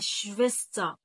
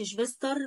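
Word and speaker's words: Schwester: يبقى شفيستا. آدي الاس سي ها أهي لو لك مثلا. وبعد كده عندك الاي ار بره لا تنطق صوت الاي بس ما اقولش شفيستر ولا شفيستغ. الكلام ده طبعا ممنوع.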